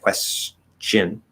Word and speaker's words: question: like that t um it should be a ch quest shin but you can get a little lazy with a question question question and make it more like a s to sh instead of s to ch i have a question